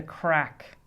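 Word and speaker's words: craic: And there's a thing in Ireland, which Americans probably haven't heard of, but there's a thing in Ireland called the crack. And it's spelt C-R-A-I-C.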